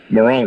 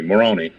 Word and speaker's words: Moroni: Joseph Smith um is towed by the angel Morana excuse me Moroni did I say it correctly morona macaroni ma